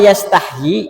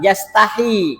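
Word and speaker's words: يستحيي: Nah, di sini dikatakan bahwa kata yastahyi itu ada dua cara membaca. Pertama yastahyi. Nah, ma ada mad thaobi'i. Yastahyi. Yang kedua, yastahi. Yastahi. Yanya ada satu.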